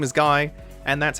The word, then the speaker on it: Guy: Without further ado, it's Guy or Gee as a lot of people call him. Don't know why they do that. Maybe I missed the official translation.